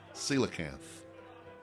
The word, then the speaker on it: coelacanth: Okay, so I found out it's not coelacanth or whatever else. It's coelacanth. Coelacanth, yes. But it's spelled Coelacanth.